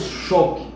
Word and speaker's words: choque: Vejamos choque. Em choque temos logo dois dígrafos, o CH e o QU. Este U você não pronuncia, choque. Você não diz choque, choque.